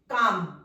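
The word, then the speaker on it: calm: आ रही है पा काम के साउंड के बाद सी नहीं के साउंड के बाद हमारी आ एल तो हमारा साइलेंट है आ कम आ हैवी साउंड आ रही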